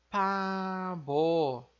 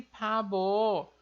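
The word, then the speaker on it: 바보: E quando ele está aqui na segunda sílaba, no final, nesse caso da palavra, ele tem o som de B.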